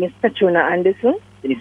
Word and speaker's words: Petrona: My name is Petrona Anderson. Can you spell it for me?